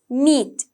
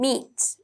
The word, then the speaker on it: meat: meat නෙවෙයි, meat, e sound, meat, okay?